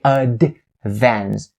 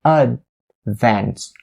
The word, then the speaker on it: advance: situation you don't want to say ad vans but you want to make the d sound here a stop d sound so you say advance a fence notice the way that i stopped d sound so i have a little bit of a sound in my throat in order to make that stop d sound impeccable so advance advance the